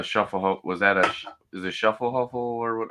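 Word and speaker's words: Schöfferhofer: Wait, I thought the Schaffelhofer was that is it Schaffelhofer or what? How do you pronounce it? Schofenhofer, and it is a grapefruit one, right?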